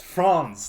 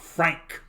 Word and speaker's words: Franz: It's Franz, not Frank. Franz.